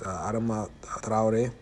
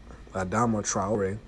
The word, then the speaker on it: Adama Traoré: with cases such as Adama Traoré. That's how you really pronounce it, but in English they pronounce it Adama Traoré.